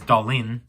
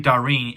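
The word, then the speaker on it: 舵輪: actually it's you know it's romanized here um as dalin it's supposed to be dahreen if you hear how it's pronounced um darien is basically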